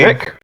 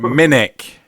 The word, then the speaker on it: Minnick: It's Minnick, pronounced with a K. I'm waiting. Mimic. Huh? That doesn't say mimic. No, Minnick.